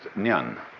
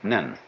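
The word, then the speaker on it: 念: They have a very interesting sign this it's pronounced nyun in Japanese nen and the top part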